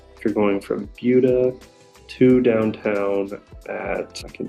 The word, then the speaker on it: Buda: first talk about the location of bua so bua is the first suburb to the south of Austin and first thing you should know is it's spelled Buddha b u d a but it's pronounced bua so that's something that trips up a lot